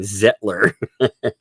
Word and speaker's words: Zettler: It's like settler, but pronounced by a German, Zettler.